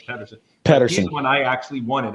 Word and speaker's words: Pederson: Actually, I always want to say Peterson, but I know it's Pederson.